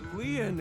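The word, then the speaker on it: Lien: stay by your side my name Leon is spelled l i e n in French Leon means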